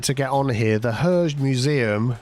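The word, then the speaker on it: Hergé: The Herge Museum, Herge or Herge, I think it's pronounced, is the writer of Tintin.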